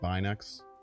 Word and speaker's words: Binx: It's actually pronounced Binex.